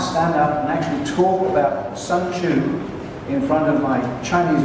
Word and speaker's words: Sun Tzu: And it wasn't Sun Tzu at all, it was Sun Tzu.